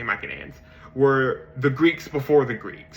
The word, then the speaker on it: Mycenaeans: So the Mycenaeans, right, or the Mycenaeans, however you want to pronounce it, I say Mycenaeans, were the Greeks before the Greeks, right?